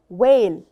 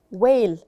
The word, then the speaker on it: whale: sea animal it's called whale whale whale it's the largest sea animal in the world it's called whale will hurt and h is silent okay has a tail